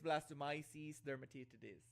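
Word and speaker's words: Blastomyces dermatitidis: It's blastomyces dermatitis.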